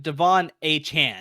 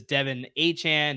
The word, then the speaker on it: Achane: That is Devon Achane. Now it's Devon Achane.